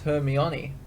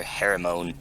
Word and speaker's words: Hermione: blown am i right yeah very much like hermione it's hermione did you know that right when i was taking a sip of water you gotta call her hermione when i was in elementary school and my teacher wrote read the book they called her hermon when i was at